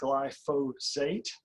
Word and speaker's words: glyphosate: It's pronounced glyphosate.